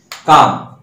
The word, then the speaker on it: comb: শেষে কোনো শব্দের শেষে, যেমন মনে করো কাম, COMB, দেখো এই কাম বি এর উচ্চারণ নাই।